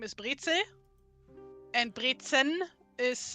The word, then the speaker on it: Brezel: Brezen are already salty enough. Did I pronounce that at all right? Brezen? Brezel. Brezel. Not even the N, huh?